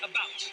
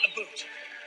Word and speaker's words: about: french not american and i pronounce it about not a boot i can proudly sow